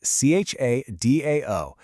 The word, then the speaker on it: cha dao: That's C-H-A-D-A-O, pronounced sort of like cha dao.